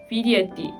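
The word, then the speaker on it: vidjeti: 또 세르비아어에서는 보다라는 단어가 비데띠인데요. 크로아티아어에서는 동일하게 옛값이 추가되어 비디에띠 이렇게 발음이 된다는 차이점이 있는 것 같습니다.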